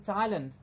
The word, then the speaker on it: Thailand: th AI la nd the country Thailand was pronounced and told to us as Thailand and now we have to say the land at the end and it's called Thailand yes so these things